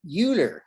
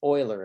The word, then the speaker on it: Euler: euler in the 1700s he's from switzerland so his name is german uh we americans would look at that word and think oh youtu that's theater but actually that's euler is the correct way